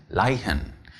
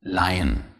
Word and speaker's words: Leihen: If you have a H after an EE though, it does not make it longer, but belong to the following syllable. Good to see by the words Reihe and Leihen.